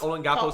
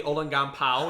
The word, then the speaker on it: Olongapo: I think he pronounced Olongapo City, Olongampao. And I was like, all right, Kung Pao chicken, relax.